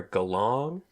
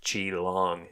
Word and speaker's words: Geelong: kind of near Geelong, which we were mispronouncing as Geelong. And one of my comedian friends laughed at us and goes, "Oh, Geelong, you mean Geelong?" And Allie goes, "Then why the extra E?"